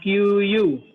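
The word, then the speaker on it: queue: Yang kedua, QQ tree, dia sifatnya sama kayak QQ simple, tapi ininya kayak konfigurasi lebih rumit. Dia dapat bacanya QU. QU. Bacanya Iya.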